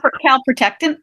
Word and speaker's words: calprotectin: Her test came back great on her calprotectin. Am I pronouncing? Calprotectin.